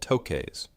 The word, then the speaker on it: toque: Woolen hats that Canadians called toques, pronounced like 2, that pulled down over the ears and could be rolled up or down depending on how cold it was.